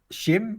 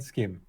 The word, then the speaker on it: SCHiM: yes exactly okay and the alternative pronunciations shim and skim okay that's what we hear a lot internationally as well because skim is very specific very Dutch yeah so we don't